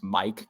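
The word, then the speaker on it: Myck: a sudden he's like no it's Mike because it's spelled m-y-c-k I feel like this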